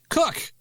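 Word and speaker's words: Koch: First of all, Dave, we learned how to pronounce it. Cook.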